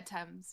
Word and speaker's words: Thames: Am I saying it right? Is it Thames? Yeah, Thames, yeah.